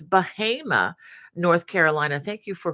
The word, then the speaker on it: Bahama: Wanda Gordon as always from I understand it's pronounced bahim not Bahama it's spelled like Bahama but you know like